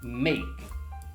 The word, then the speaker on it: make: Letter E is silent. Only letter A is pronounced, make, which means, again, there's only one syllable.